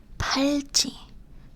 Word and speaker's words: 팔찌: 팔. 찌. This is it's a harder G sound. And this one is like a P sound, but 팔찌, bracelet.